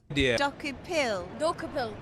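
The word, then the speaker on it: Dokoupil: Dokupil. Dakupil. Not bad. You got the syllables right. Dokupil. Decopel, close. I'm Tony Decopel. I work for... Tony Decopel. Okay, that's how you say his name.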